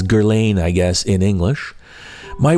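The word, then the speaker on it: Guerlain: perfume sections to see if there are any Gerlain products. Gerain is spelled G U E R L A I N. It's pronounced Gerla in French, but it's Gerain, I guess, in English.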